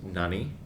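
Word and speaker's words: 何: this one which means what and is famously pronounced Nani you want to write this as sort of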